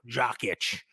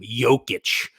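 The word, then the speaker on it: Jokić: the Joker right now jock itch as I like to call him I get his name wrong every single time jokic so so take it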